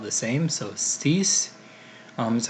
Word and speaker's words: six: to it we have the sink six is cease now it's kind of a false friend as it's not pronounced in English but it is spelled the same so cease almost how you pronounce that then we have